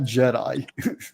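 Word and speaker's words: Djed: They had Jedi. It's spelled D-J-E-D-I, Jed.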